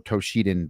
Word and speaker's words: Toshinden: Uh I saw Battle Arena Toshinden or Toshidan depending on how you want to pronounce it at a demo